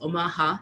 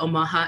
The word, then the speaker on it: Omaha: nebraska in omaha uh i heard that they call themselves omaha so we're putting the inflection in the wrong syllable when we talk about that nation um some of you